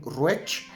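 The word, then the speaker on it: Ruesch: Vamos a hablar de Benjamin Ruech. Es otro autor que tenemos por ahí. Ruech se escribe R-U-E-S-C-H, Benjamin Ruech, y es el primer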